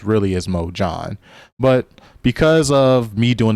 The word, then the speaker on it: MOJHON: The company is actually called Mo John, not Mohan.